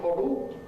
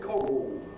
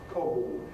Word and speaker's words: Coggle: fact, by Paul Cogle, or rather his name is not Cogle, but Cogul. Cogul. And his name in fact exemplifies one of the characteristics of estster pronunciation namely the dark l changes into a vowel sound. So rather than cogle his name is cog cog at the end.